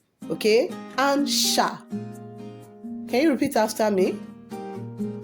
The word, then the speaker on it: un chat: Now, if we want to say a cat in French language, how do we pronounce a cat? We call it what? Un chat.